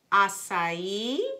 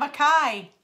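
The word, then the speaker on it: açaí: blend of skin loving asai asai she said it right instead of a Kai I used to call it a Kai yes o it smells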